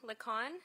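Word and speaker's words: Licon: Lon. and it's spelled M A R I S A.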